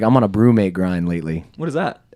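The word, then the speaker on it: BruMate: it's a look up brewmate cooler. It's spelled with a U.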